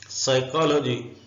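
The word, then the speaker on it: psychology: नाम है इसमें पी साइलेंट है सूडो पी साइलेंट है इसका मतलब होता है दगा बास धोखा देने वाला साइकोलॉजी उर्दू में ऐसे साइकोलॉजी लिखेंगे एलम नसिया को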